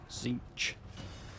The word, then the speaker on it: Tzeentch: I think there's a lot of speculation on how you actually pronounce that, but from what I've gathered, Tzeentch is the way. Silent T, I guess.